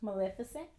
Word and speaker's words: Maleficent: I can't pronounce it, so. It's Maleficent.